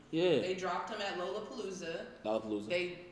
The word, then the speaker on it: Lollapalooza: They dropped him at Lollapalooza. Lollapalooza. Lollapalooza? Yeah. Is that really how Yeah, it yeah, is? That's how it's pronounced, man.